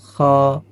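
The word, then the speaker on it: خاء: হা, খ, খ, ভিতর থেকে একটা বাতাস চলে আসবে, খ, এক আলিফ পরিমাণ টান হবে।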